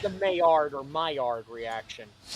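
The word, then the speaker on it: Maillard: Where are you having it? My yard.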